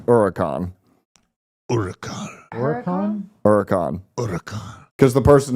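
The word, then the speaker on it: Huracán: correctly pronounce Huracan. Huracan. Huracan. Because the person who bought the used Audi didn't even know how to pronounce the name of the used Audi. Hurricane.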